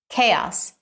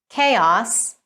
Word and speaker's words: chaos: All right, so the correct pronunciation is chaos in British English and chaos in American English.